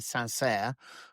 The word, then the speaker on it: Saint-Cyr: He did, and then he went to the military academy in Saint-Cyr. I think that's the correct pronunciation, CYR Saint-Cyr, and then went back to the 33rd Infantry Regiment.